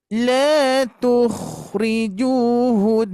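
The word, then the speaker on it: لَا تُخْرِجُونَ: La tukhrijuhun. Silakan, masih guna. La tukhrijuhun. Hati-hati, ju-nya di sini 2 harakat. Domah bertemu waw sukun.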